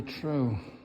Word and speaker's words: trow: Boat is called a trow, which it rhymes with crow.